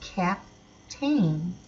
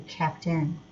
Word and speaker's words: captain: a I n so if you didn't know that word and you were looking at the vowel sounds you would say cap tain so you would actually be saying it correctly by word parts if you said cap tain well we change it for somewhere it's you know be kept in okay so let's take